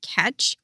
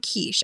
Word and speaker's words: Catch: It is from the brand Catch, not Quiche. I was pronouncing it wrong for a long time, but it is pronounced Catch.